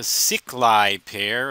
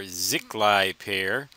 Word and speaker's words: Sziklai: to the darlington pair called the sicklie pair or ziklai pair i'm pretty sure that's how it's pronounced but i'm not absolutely positive note the similarities and